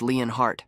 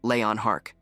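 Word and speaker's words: Leonhart: The recruit hesitates for a moment, asking if the name was Leon Hart. Right then, Demian quietly mutters the correct pronunciation, Leon Hark.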